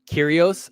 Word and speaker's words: Kyrgios: The G is silent. Kyrgios. Oh, I have heard people say that.